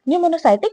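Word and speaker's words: Pneumocystis: पी इज़ a silent निमोसाइटिक Carini.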